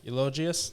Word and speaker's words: Eulogius: Eulogius? Yes, like eulogy.